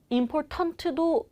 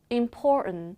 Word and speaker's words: important: important도 맞지만 important.